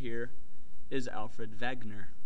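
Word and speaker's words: Wegener: right here is Alfred Vagner I know the last name starts with a w but it's pronounced Vagner he's of German origin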